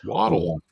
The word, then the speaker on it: Waddle: and that is Waddle. Yeah. Wadd pronounced waddle. Do you know uh a penguin group that's on land is called a waddle?